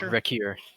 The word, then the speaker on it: Riker: all right and um riker is a reeker how do you pronounce his name oh wreck here wreck here okay when i got that